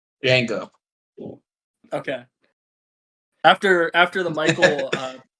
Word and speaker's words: Django: and stuff uh Nate how do you say the name of this movie Jango okay after after the